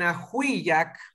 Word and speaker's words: ajuyac: Ahora, acá en ajuyac, porque la A está en la última sílaba, tenemos que romper ese diptongo.